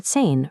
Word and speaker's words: zehn: This gives us zwei for two and zehn for 10.